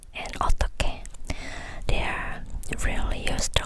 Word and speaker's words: 어떻게: S is pronounced is also transferred. T, so, 어떠게, no. 어떻게, 어떻게.